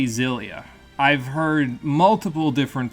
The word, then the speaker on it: Xillia: I think, if I remember correctly, the Japanese version pronounces it Xillia. But that's not how X's work at the beginning of words in English, so I'm going to pronounce it like an English speaker would pronounce it, which would be Xillia. Because in the English language, if you stick an X at the beginning of a word, it's pronounced like a Z.